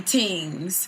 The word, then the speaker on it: Tings: One single called Chang Li, and then another single called Barbie Tings. You know, you got to say it tings like that. Tings. You got to say it like you're from Jamaica.